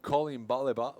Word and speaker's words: Coline Ballet-Baz: for her well and your pronunciation of the name Colleen balleba was so spot on are you French I'm